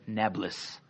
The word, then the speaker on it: Nablus: new city right naples arabs can't pronounce p so today they call it nablus okay it's a deliberate